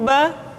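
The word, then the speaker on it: ب: Huruf Ba dikeluarkan dengan cara merapatkan kedua bibir kita. Ba, Bi, Bu. Ketika mati, maka terdengar suara pantulan. Bab. Kesalahan sering terjadi, seringkali Ba lupa untuk dipantulkan suaranya.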